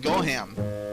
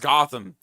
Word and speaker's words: Gotham: It's it's it's pronounced Gotham. It's a T H. G O T H A M. Not Gohan.